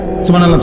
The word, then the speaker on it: সুবহানাল্লাহ: পরে এটারে মেশিনের মতো সুবহানাল্লাহ সুবহানাল্লাহ সুবহানাল্লাহ সুবহানাল্লাহ সুবহানাল্লাহ, কিচ্ছু হয় না। এটা হা উচ্চারণ না হলে তো তাসবিহ হয় নাই। শেষের গোল হাটা সাকিন করতে হবে এবং প্রত্যেকবারই নিঃশ্বাস ফেলতে হবে।